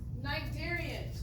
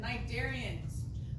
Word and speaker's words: Cnidarians: Cnidarians. Oh, we've been talking about those guys. Remember, the sea is silent. Cnidarians.